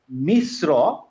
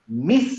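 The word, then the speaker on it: مصر: হ্যাঁ, হ্যাঁ, কিন্তু আমি যদি বলতাম হচ্ছে যেমন এইটা মিশ্র, আমি এখানে হ্যাঁ। মিস বলে মুখটা খুলবো না, মুখটা গোল করে ফেলবো, মিশ্র ও, ও, মিশ্র।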